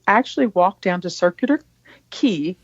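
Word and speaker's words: Quay: We actually walked down to circular ki. It's actually it looks like qu u a y but in Australian it's pronounced ki.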